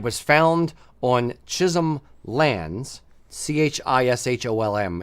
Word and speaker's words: Chisholm: found on Chisholm lands c-h-i-s-h-o-l-m is how you spell it hey pronounce it it's Chisholm um Chisholm lands in